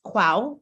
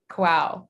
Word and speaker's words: Kwaw: Last name is KWAW, pronounced Quow, like wow. Yes. Quow.